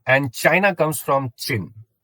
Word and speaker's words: Qin: and China comes from chin it is written as Qin but it is pronounced as chin it was a short